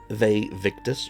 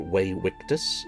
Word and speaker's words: Vae Victis: Vae Victis, or Vae Victis, if you want to pronounce it in the Latin, is doing the zombie horde this month, along with a couple more cultists of sorts too.